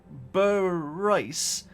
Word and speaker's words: Bryce: But Bryce is how you pronounced my dog's name.